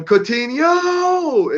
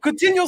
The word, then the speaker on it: Coutinho: Or Coutinho. It rhymes with Aguero, so you know it is possible.